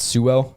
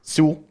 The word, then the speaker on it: Sewell: So apparently we've been saying it wrong. It's not Sewell. It's Sewell. Sewell.